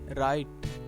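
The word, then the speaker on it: write: आर आई टी ई राइट लिखना इसमें W silent है जी ओ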